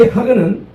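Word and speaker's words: חג: 이 명절이 히브리어로는 하그입니다. 우리가 말하는 하가 아니라 숨을 팍 내쉴 때 이런 발음이 되는 것인데, 이 하그는 순례 절기를 지키다, 순례하다라는 하가그에서 유래를 했으며 축제, 모임, 순례 절기를 의미합니다.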